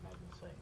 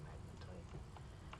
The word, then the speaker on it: magnetite: I don't remember oh the magnetite excuse me not not magnite the magnetite I think it's how you say it I'm going to